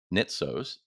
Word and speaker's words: Nitsos: today I am super excited to introduce Anthony nitos am I pronouncing that correctly you are all right awesome